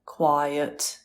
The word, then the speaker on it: quiet: it's always good to point out quite one syllable quiet two syllables that's it the spelling's